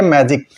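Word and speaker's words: magic: कुछ एग्जांपल देखते हैं जैसे देखिए मैजिक यहां जी के बाद आई आया है तो ज हो गया इंजन फिर जी के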